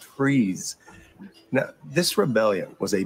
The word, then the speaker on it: Fries: here it is Rebellion well it's pronounced freeze now this rebellion was